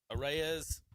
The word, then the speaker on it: Arraez: Arraez.